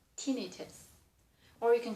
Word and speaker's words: tinnitus: English pronunciation, if regular common word, probably the accent on the third one, so tinnitus. But a lot of medical words, the accent changed, so this is in medical field probably called tinnitus.